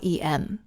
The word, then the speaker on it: em: em and the r m what are these units well the EM is actually not pronounced em it's pronounced M so it's pronounced in the same way that this letter is in the alphabet why is that well